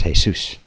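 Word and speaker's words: Jesús: Jesus and of course in Spanish Jesus is not even pronounce Jesus as pronounced hay-soos right hey Zeus hey what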